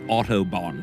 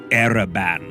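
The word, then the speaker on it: Arraban: you an illiterate arc i am not lord autobahn it's lord ereban it's a-r-r-a-b-a-double-n spell it right say it right listen no i no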